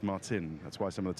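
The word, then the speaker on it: Marcin: because I think Martin Martin it's sort of pronounced Martin that's why some of the team principals been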